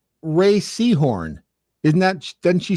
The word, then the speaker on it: Rhea: And it's pronounced Ray. Ray.